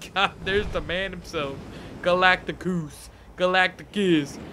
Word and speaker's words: Galactus: Galactus. Galactus. Not Galactus, because Galactus sounds hella lame.